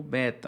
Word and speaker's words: Beta: temos a letra B Olha a pronúncia pessoal Beta não é Beta alguns usam como Beta mas segundo a o nome da letra é Beta nós temos aqui a